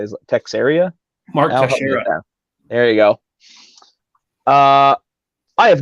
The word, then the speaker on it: Teixeira: Mark Teixeira.